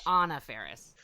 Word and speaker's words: Anna Faris: It's Anna Faris.